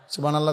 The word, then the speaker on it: সুবহানাল্লাহ: শব্দটা তো বা কলকলা হইতে হবে, হা হলকের মধ্যখান থেকে উচ্চারিত হইতে হবে। আল্লাহ শেষের হা, গোল হা, যেটা ছোট হা, এটা পূর্ণ উচ্চারণ হইতে হবে। আপনি দেখুন সুবহানাল্লাহ সুবহানাল্লাহ সুবহানাল্লাহ, সুবহানাল্লাহ তো